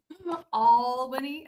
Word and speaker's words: Albany: Albany, Albany. Albany. I just I love that pronounce It's the best. I should All Is that A L L B A N Y? It's A L Al- bany.